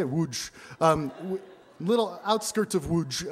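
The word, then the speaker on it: Łódź: in a place that looks like it's it's pronounced lads but it's actually you said um i i'm not kidding i didn't that's how they say wooj um little outskirts of wooj um you know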